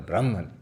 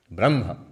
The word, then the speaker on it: Brahman: We will use the prestigious standard term for ultimate reality in Vedanta, Brahman. Brahma. Not Brahma.